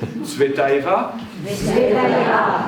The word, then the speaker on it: Tsvetaeva: On va faire un petit exercice, vous allez essayer de le prononcer après moi. Tsvetaeva.